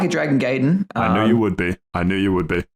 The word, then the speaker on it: Gaiden: Like a Dragon Gaiden. Very odd way to say that word, but sure, okay, I'll let it pass. Isn't that how you say it? No, it's Gaiden.